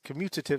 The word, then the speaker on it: commutative: c-o-m-m-u-t-a-t-i-v-e the commutative property commutative property is is commutative say it right commutative this says that if